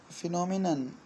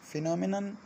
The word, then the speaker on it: phenomenon: इसको हम आमतौर पर इसकी जो प्रोनाउंसिएशन है वो प्लूरल की बोल देते हैं, फिनोमिना। फिनोमिना जो है वो एन ए होता है, MENA, मज़ाहिर, वो प्लूरल होता है, जबकि जो सिंगुलर होता है वो फिनोमिनन होता है।